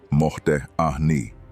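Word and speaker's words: מודה אני: Modeh ani, pronounced mohdeh ahni.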